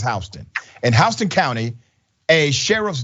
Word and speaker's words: Houston: It's spelled Houston, but it's Houston.